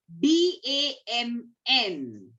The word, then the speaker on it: damn: N is silent after M. Okay, D-A-M-N.